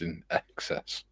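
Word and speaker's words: INXS: It's pronounced in excess.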